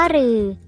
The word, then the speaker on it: ฤ: รือ มี ดัง นี้ รือ อ่าน ออก เสียง ว่า รือ คำ ที่ ใช้ ตัว